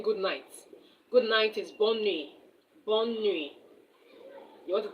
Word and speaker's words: bonne nuit: The T at the end of that nuit is silent. Bonne nuit, not bonne nuits.